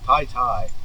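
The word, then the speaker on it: Taytay: We're leaving San Vicente and going to Tai Tai. It's spelled like Tay Tay, but it's pronounced Tai Tai.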